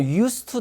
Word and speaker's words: used to: 그 다음에는 used to 동사. 이 DT 만나면 D 발음 안 하죠.